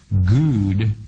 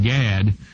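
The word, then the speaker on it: גד: in the Hebrew dictionary which is pronounced good rather than GAD and it means to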